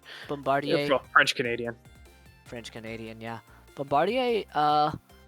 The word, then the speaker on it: Bombardier: It's Bombardier. It's normally how it's done. It's French. Bombardier.